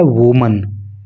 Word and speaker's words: women: और वीमन से रिलेटेड मैं आपको बात बताऊं, जब ये नाउन लिखा जाता है WOMAN तो इसका उच्चारण होता है वुमन, अर्थात एक महिला। लेकिन जब इस नाउन को WOMEN लिखते हैं तो इसका उच्चारण हो जाता है वीमन, एक से अधिक महिलाएं,